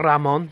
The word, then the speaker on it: Ramon: and this is the boss rayon or Ramon depending on how you pronounce it and this is